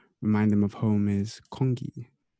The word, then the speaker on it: congee: And she said that the one rice dish that never fails to remind them of home is congee. Congee, sorry. Congee. The Chinese I in me.